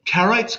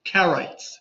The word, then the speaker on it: Karaites: Kraim, Karites, K-A-R-A-T-I-E-S. Like a carrot of a diamond.